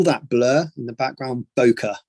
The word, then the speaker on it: bokeh: blur in the background bokeh b o k e h and there's a number of different ways pronouncing it bouquet bucky whatever you want to call it i call it bokeh and and yeah so